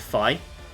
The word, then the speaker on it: Fi: Now, some people do pronounce it fi, but I have I don't know why I've always just defaulted to fe.